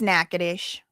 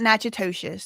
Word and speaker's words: Natchitoches: It's Natchitoches. It is not Natchitoches. No, it is not. But that's not to be confused with Nacogdoches, which is a Texas town. Okay, so that's Natchitoches.